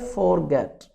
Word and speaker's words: forget: अच्छा, समटाइम इससे पढ़ते हैं forget, फोर आर साइलेंट है, रूल के हिसाब से आर के बाद कॉन्सोनेंट्स साउंड आ रही है, तो ये साइलेंट होता है ब्रिटिश इंग्लिश में।